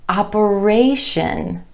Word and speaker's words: operation: When we add the TION ending, we get operation, operation.